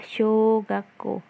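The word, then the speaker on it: 小学校: punya adalah shogakko ya shogakko bacanya panjang shogakko nah show disini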